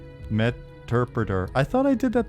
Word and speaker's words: Meterpreter: It's like interpreter but with meter. Meterpreter.